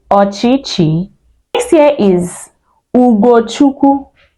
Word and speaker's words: Ugochukwu: Ugo is spelled UGO. Then Chukwu, CHUKWU. That is the spelling on the screen.